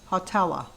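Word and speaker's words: Hawtalla: me to pronounce it h-a-w dash t-a-l-l-a hotella stephanie and dale happy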